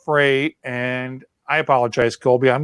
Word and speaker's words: Frey: I'm going to screw that up until hell freezes over because it's spelled F-R-E-Y, but it's pronounced Frey, and I apologize, Colby.